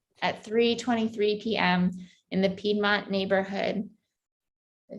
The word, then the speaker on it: Piedmont: in the Piedmont neighborhood, did I say it right? Ann? Piedmont, yes.